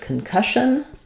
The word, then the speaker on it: concussion: So we have the stress on cush here. That means the letter C-O-N. Sometimes in words they say con if they're stressed, but here as they're unstressed, they're going to sound more like kun. You're going to have a vowel schwa. Concussion. And letters SS say the sh sound here, so I would rewrite that like cush on concussion. We may have almost no